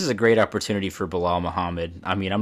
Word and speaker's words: Bilal Muhammad: Bilal Muhammad, you said it right, man.